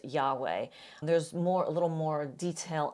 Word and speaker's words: Yahweh: His name is Yahweh. By the way, this is sometimes transliterated as Jehovah. Frank used that term a minute ago. It's highly likely that it was originally pronounced Yahweh.